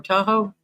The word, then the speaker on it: Tahoe: You know where Robbie down there that yahoo or tahoe that's how you have to say it.